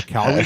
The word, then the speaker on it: Calgary: How you looks like you got the Calgary stuff on here? That was pretty good, but less accent on the A.